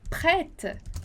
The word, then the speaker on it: prêtes: comigo lá, prête, então esse E com acento circunflexo que a gente vai pronunciar o som de E, prête, prête, e o S do final que a gente não vai pronunciar, prête, prête.